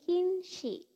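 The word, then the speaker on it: 禁止: Oke, next dia ketemu sama kanji ini dibacanya jadi kinshi.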